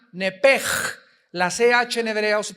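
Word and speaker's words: נֶפֶשׁ: En Génesis 35 dice el versículo 18, "Y aconteció que al salírsele el nepesh, apúntalo ahí, el alma en el hebreo es nepesh, se pronuncia nepej.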